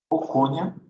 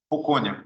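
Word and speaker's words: Pochonia: Pocônia e Paecilomyces são dois gêneros de bactéria.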